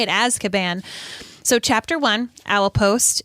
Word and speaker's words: Azkaban: asan and yes that's how you say it as caban so chapter one owl post and here is